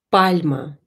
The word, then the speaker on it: пальма: Пальма. Пальма. Пальма. Пишем пальма. Пальма. Ударение на букву А.